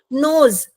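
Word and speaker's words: knows: उच्चारण जो है वो सेकेंड लेटर से शुरू होता है, यानी कि नोज, तो एन लेटर से वो शुरू हो रहा है, के letter is there but इट is silent, okay.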